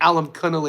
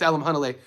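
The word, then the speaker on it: Alimkhanuly: It's funny to hear people mispronounce his name. They Alam Kunnel. It's Alam Hunnle.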